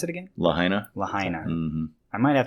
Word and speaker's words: Lahaina: one yeah yeah that's cool how do you pronounce it again lahaina lahaina mm-hmm i might have they got a